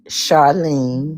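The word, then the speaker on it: Charline: It's uh at Charlene Brown 91 and and my name is spelled C H A R L I N E Brown and then 91.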